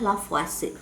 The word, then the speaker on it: Lavoisier: Di sini sebetulnya penulisannya Lavoisier tapi dibacanya Lavoisier.